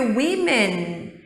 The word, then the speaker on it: women: Se a gente escrever women, notem que agora, gente, a pronúncia também muda.